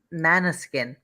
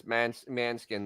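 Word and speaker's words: Måneskin: it's a serious Channel Mana skin no okay no in Italian it's I listen to Italian Rio it's manskin that's how they that's the way they say it and it is let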